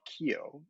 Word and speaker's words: QEO: So there is a Dallas, Texas-based insurance company called Keio, even though it's spelled QEO.